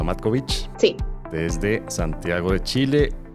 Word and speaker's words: Matkovic: Bárbara Matkovic, me imagino que se pronuncia Matkovic.